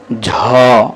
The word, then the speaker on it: ঝ: জ তারপর এটা হচ্ছে ঝরা অনেক সময় এটাকে জহ বলি আসলে এটার উচ্চারণ জহ নয় ঝ ঝকে আমরা বলি নিয়